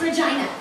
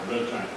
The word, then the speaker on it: Regina: Oh, this is my new city planner down from Berkeley, Miss Regina Coombs. It's pronounced Regina. So was my mother's name. Sorry, ma'am. Regina.